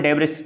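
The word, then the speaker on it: debris: ये जो रिंग होती है, बेल्ट होती है, इसको ये स्मॉल डेब्रिस, इसको देखो, एक इसका प्रॉपर प्रोनाउंसिएशन है डेब्री, ठीक है।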